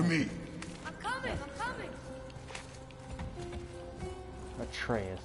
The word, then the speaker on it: Atreus: Atreus, that's how you say his name.